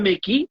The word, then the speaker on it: Mekies: Então, essa saída do Laurent Mekies, Laurent Mekies porque é francês o nome dele.